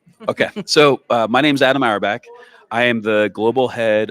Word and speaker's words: Auerbach: How do I pronounce? Yes. Auerbach? Yep, you said it right.